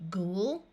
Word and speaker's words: ghoul: So this word will be ghoul and ghoulish.